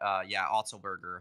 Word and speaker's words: Otzelberger: It's like Otzelberger? Yeah, something like that. Otzelberger, 100%. Yeah. Money, Kevin. I mean, I'm the pronunciation guy.